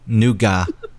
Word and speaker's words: nougat: Nougat. Nougat. In the UK, they pronounce it nougat. Oh, do they? Nougat. In the UK. Why'd you make it French? Because nougat. No, maybe that is the French pronunciation.